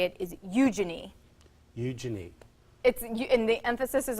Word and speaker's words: Eugenie: When my co-hosts were talking about it in Australia, they were saying Eugenie, let me just spell it, Eugenie, which is correct.